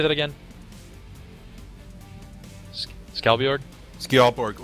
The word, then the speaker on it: Skjaldborg: Skjaldborg, or you could say Skjaldborg.